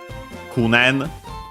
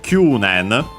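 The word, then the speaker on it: 九年: Kunen or Kyunen, depending on which you use. Kunen unaccented, Kyunen accent on the Q.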